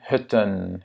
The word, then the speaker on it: hutten: On a aussi hut, la cabane, et hutten. Yeah? Il faut doubler ici la consonne pour garder le U court.